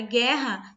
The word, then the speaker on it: guerra: Quando eu pronuncio a palavra guerra, vocês vão observar que vai ser assim, ó, gué. Não existe som de U, só existe o som de gué.